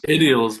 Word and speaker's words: Iddiols: I believe it's Iddiols. Is that right? Is it pronounced? Iddiols, but it really doesn't matter.